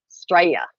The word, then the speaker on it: Straya: Straya. Straya. Straya. Straya. Straya. Straya. It's like America. It's Australia. America is Australia. America, Australia. So you drop the A. You just go straight to the S.